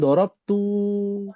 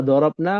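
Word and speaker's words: ضربنا: Nah jangan dorabtu. Dorabna jangan dibacanya dorabtu. Dabtu. Iya. Kalau dorabna memang panjang ada alifnya di situ kan dorabna ya.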